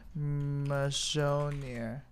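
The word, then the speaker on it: Mjölnir: Amaz, look up the Mjolnir pronunciation, please. Okay. Mjolnir.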